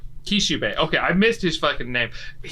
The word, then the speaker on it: Kishibe: name earlier i missed his yeah it's uh kishibe kishube okay i missed his name